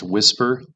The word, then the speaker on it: WSPR: And the answer is WSPR. It's pronounced whisper.